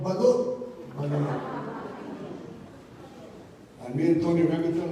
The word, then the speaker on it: Balut: And the name is Balut Beilut, because most of the people who are not Filipinos will not pronounce it, so I have to put Beilut.